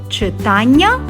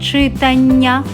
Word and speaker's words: читання: читання До речі це слово має подвійний наголос можна говорити читання А можна говорити читання і так і так буде правильно чудово ви тепер правильно